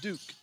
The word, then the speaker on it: Duque: Number 2, Sarah Duque. It's either Duke or Duque. D-U-Q-U-E. And And let's check that. It is Sarah Duke.